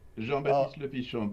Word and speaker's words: Jean-Baptiste Lepichon: Did I come close in the correct pronunciation there? How close was I? That was very good. Jean-Baptiste Lepichon, but you did very good.